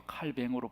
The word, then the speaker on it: 칼뱅: 고치라고 그래요 이유가 뭐죠 그 사람이 프랑스 사람이기 때문에 이름 발음을 하면 그렇게 되어서 칼뱅으로 발음하게 돼요 어쨌건 이 칼빈이 프랑스에